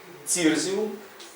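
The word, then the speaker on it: Cirsium: змінилася на це і в комбінації і cє і C вона читається як C с або ці цирзіум центауреа ципрінус А перед такими голосними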